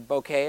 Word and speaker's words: bokeh: And what that means is, when out of focus elements, they're called bokeh or bokeh if you want to pronounce it like Japanese.